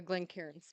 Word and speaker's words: Glencairns: Jason doesn't like the Glencairns, by the way. Is that how you pronounce it?